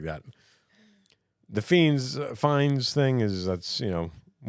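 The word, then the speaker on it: Fiennes: I say yeah yeah I say Ray fiends even though it says Ralph like that's how it's spelled and you say Rafe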